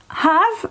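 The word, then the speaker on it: half: زين، have نصف، هذه ال L ما تلفظ، أوكي، ال L have دا أقول is have.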